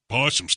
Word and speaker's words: opossum: far away they make a wide berth opossums possums can't stand the stuff it's pronounced possum Roger so the coyote urine then